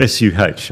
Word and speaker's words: Suh: Suh. Not much imagination there, is there? S-U-H.